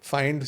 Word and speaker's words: Fynd: So Find spelled with a Y, FYND, and why with a Y?